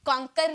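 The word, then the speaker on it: conquer: ये जो लास्ट में र जो होता है ना, इसका जो प्रोनाउंसिएशन की जाती है हाफ में की जाती है, कॉन्कर नहीं बोलेंगे, ओके, हम बोलेंगे कॉन्कर, कॉन्कर, ओके, इस तरह से बोलेंगे, हाफ में प्रोनाउंसिएशन करेंगे।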